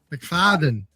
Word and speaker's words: McFadden: McFadden.